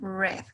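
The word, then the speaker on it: read: caso del verbo ruiz a pesar de que se escribe exactamente igual la pronunciación cambiará y tendremos la pronunciación red como el color rojo ok salud para estar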